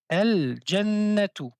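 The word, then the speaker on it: الجنة: Al jannatu. Donc on prononce toujours la lettre lam.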